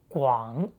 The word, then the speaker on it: 广: In simplified Chinese, it is the same as the radical, but remember, it's pronounced 广.